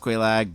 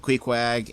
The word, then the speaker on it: Quelaag: I know it's pronounced Quelaag, but my late wife used to pronounce it Queequeg, and that always made me laugh.